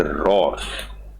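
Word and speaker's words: Rohr: भी challenging job है Richard रोर H silent रहता है इसमें द फ्रांसिस फ्रांसिसी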